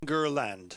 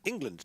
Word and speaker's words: England: It's always Ingerland. Yeah, I've never heard that before. Ingerland. There's always an extra syllable in there somewhere. And it's like, how are you doing that? England, 2 syllables.